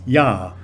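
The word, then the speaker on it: ja: german word for yes yah that the j in german is pronounced like a y in english and the short uh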